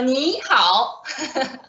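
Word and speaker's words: 你好: Knees, right? Knee and knee. Okay, we get the first word. And 好, we say, how are you? Right? How are you? How? So 你好. I hope you guys got it. 你好. To say hello, we say 你好.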